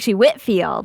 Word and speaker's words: Whitefield: Whitfield. Oh, it says Whitefield. Yeah, it's cuz he's like British or whatever. You know, they pronounce things weird over there.